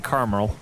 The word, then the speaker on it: caramel: too long Michelle what most most people don't pronounce the a that's after the are most people like car mol like CA are mal and there's an A in between there so it's caramel mm oh yeah that's why